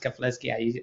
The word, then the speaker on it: Keflezighi: simply as meh but my last name is pronounced kafleski i said earlier thank